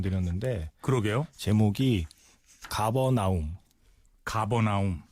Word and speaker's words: 가버나움: 제목이 가버나움. 가버나옴. 네. 아, 이게 C로 시작하는데 이거 가버나옴으로 발음이 되나요? 예. 이게 가버나움이라고 되어 있고 또 뭐 다른 자료 보면 보통 뭐 카파르나움 이렇게도 많이 이제 써 있더라고요.